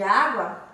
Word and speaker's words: água: utilizamos acento agudo água a sílaba tônica de água é a vogal a e também possui o som aberto tão acentuamos com acento